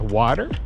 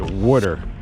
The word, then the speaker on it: water: I know it's pronounced water, but I don't know, just growing up, that's one of the words we pronounce differently. We pronounce it water, almost spelled like W-O-O-T-E-R.